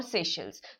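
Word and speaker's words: Seychelles: Mauritius, Maldives के भी थोड़े दिन पहले किया था, और सेशल्स।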